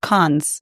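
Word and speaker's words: Cannes: My husband went to is it do they pronounce it Khan's in France?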